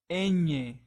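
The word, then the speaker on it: ñ: has this um lasagna so this letter in Spanish is enye so as you can see it sounds very similar to the one in lasagna lasagna so as you can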